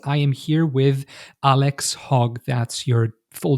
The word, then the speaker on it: Hogg: South of the Mason-Dixon in the United States, it would be pronounced Hogg. In the South, my family's actually very famous for mental health. But north of the Mason-Dixon line, that's the North and South here. All right. It's a long O as opposed to a short O.